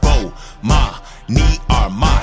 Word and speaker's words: Bomani Armah: to the morning announcements imma say my name so you can pronounce it oh ma me are my shout out to early